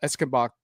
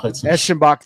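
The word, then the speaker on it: Eschenbach: One of one of them is kind of CEO Carl Esenbach really finding his what I consider Echinbach. Thank you. Thank you for the pronounce. You're welcome. You're welcome. Yep. Come on, man. Eskimbach sounds good, too. Is better. It's German.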